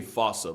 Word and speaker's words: fossa: With the spelling, I'm pretty sure it's actually fossa. But the day I pronounce it like that is the day I lay my childhood to rest.